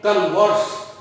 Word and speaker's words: converse: तो आगे देखते हैं CONVERSE, जब हम इस शब्द को पढ़ते हैं कन्वर्स, तो इसका मतलब होता है बात करना।